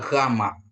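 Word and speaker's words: γάμμα: Terus ada gamma. Gamma. Pengucapan gamma ini kan dia di tenggorokan kita gitu.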